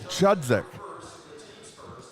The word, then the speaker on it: Chudzik: 33 on the foul that is leah chudzik i've been practicing this i was i was mispronouncing it and that was corrected which i appreciate um so i've been practicing it's chudzik and it's eight nothing